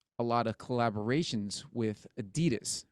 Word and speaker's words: Adidas: comes from who yeah um we call it Adidas but the actual pronunciation is Adidas Adidas because the guy's name was Adolf dassler right